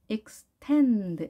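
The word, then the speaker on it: extend: 만들어졌고 씁 혼자 하고요 텐 여기에 강성 해야겠죠 엑스텐드 이렇게 산을 만들어 지겠죠 x 했는데 앞에 이가 약하게 자 pi 발음 약하게 이 가는겁니다 짧고 약하게 8x 태는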